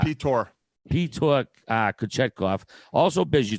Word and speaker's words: Pyotr: Is it Peter? Pyotr. No, it's Pyotr.